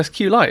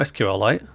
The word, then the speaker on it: SQLite: the build your own SQ light I can't even say it uh oh it is SQ light is it is it SQ light or SQL no it's SQ light isn't it not SQL light have I been saying